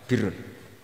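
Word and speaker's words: بِرّ: Ya kalau di isim fa'ilnya umumnya guru-guru kita baca barin, tapi untuk masdarnya untuk kebaikan bacanya apa? Birun. Nanti kamu protes, oh barun itu daratan Gus, kalau birun itu kebaikan. Aku itu macaku kamus luwih suwi bocah kok sembrono.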